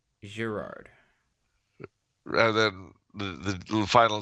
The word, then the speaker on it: Girard: or gerard gerard okay pronounce the g like a zh gerard rather than the the